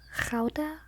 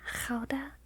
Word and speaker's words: Gouda: But I think it's supposed to be pronounced Gouda, or something like that. Gouda, with that Dutch G. Gouda.